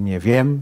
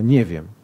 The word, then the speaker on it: nie wiem: Coś takiego jak w języku mówi pani akcent na jakiejś sylabie, a nie na innej. Tak? Czyli na przykład, nie wiem, nie wiem. Nie mówię nie wiem, tylko nie wiem.